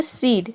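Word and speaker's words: cede: और ई साइलेंट है किसी भी वर्ड के अंत में अगर ई आता है तो वहां पे ई साइलेंट रहता है मतलब कि हम ई को प्रोनाउंस नहीं करते हैं तो ये हो जाएगा सीड सीड मतलब होता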